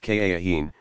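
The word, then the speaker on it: kahin: their secrets to a soothsayer called a cahiim pronounced ka Akeem who uttered the proper formula some of muhammad's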